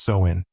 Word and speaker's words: Samhain: UK and northern France they celebrated sawin swin pronounced soen a festival marking the end of the harvest